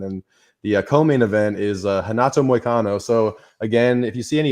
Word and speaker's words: Renato: If you see any names that start with R's, a lot of them will be pronounced with a H. They're Brazilian, and that's just kind of how it goes.